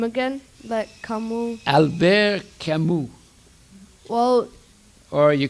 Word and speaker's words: Camus: You have to do a moo like a cow. Moo, Camus.